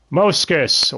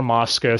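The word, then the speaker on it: Mozgus: Moskus, or Moskus. Some people pronounce it either way. It's fine.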